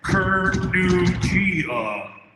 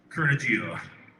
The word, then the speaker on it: Kurnugia: It's about pronouncing the name right. KURNUGIA. KURNUGIA.